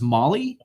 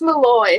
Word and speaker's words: Molloy: to owe you yes and then tails it pronounced Molly its Molloy Molloy okay yeah I know it's in New